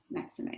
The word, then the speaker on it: Maxime: and meditation so and your last name is pronounced that maxime or yup maxime okay yup you did it right maxime yep anybody